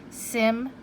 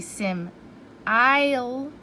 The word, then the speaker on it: simile: I might start to pronounce it with sim-ile.